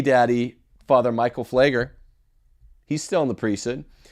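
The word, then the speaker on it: Pfleger: think of Father Michael flagger the pier silent voice it's a silent p he's a social and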